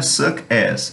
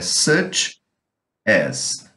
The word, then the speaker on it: such as: Por favor, e não é suck as, é such as. Lembra da pronúncia do CH.